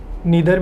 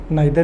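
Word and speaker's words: neither: दोस्तों, इसको हम लोग नीदर भी पढ़ सकते हैं, नाइदर भी पढ़ सकते हैं। दोनों उच्चारण आपके ठीक माने जाते हैं।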